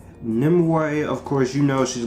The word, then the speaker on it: Nimue: queen nimoy herself i finally was able to pronounce that name right nimoy of course you know she's gonna be the